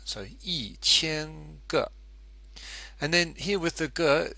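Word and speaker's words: 一千: you'll notice up here the tone for e e which is normally first tone actually becomes fourth tone because the following character the following syllable is the first type so e chen and then here with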